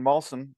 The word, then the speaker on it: Malson: and this week we have on Mr Brandon mson did I pronounce that right it is that was good